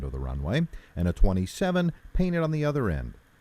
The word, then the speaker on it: 27: additionally the runway name is pronounced with each digit separately runway 27 is actually called runway 2-7 sometimes however one or